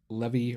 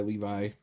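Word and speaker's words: Lévi: Um, by uh, Elephice Levy or Levi. Well, I go by Levi. That's that's how I was taught to pronounce his name.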